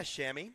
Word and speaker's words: Shami: Yeah, Shami. Shami, like the chamois cloth.